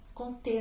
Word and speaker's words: Comte: Comte, né? A pronúncia é Comte, porque ele era um francês.